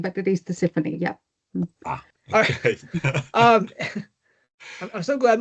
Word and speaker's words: Tisiphone: I would say in Greek, I would say Tisiphone, but it is Tisiphone.